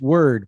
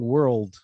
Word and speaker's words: word: And then be careful with word, because you're almost saying world, but it's word.